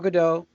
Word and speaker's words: Gadot: got Jason Momoa gal gadot Kedah Godot are you saying him I think she says he pronounces the T yeah yeah did you